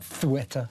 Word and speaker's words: Ceuta: I'm told you should pronounce it Ceuta. Well, I'm not doing that. I'm not Spanish, am I? Espanol, I'm not doing that. So it's Ceuta, sorry.